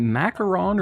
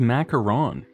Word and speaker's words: macaron: told you it's spelled macaron like m a c k a r o NS macaron is the sandwich macaroon is the coconut thing okay this is a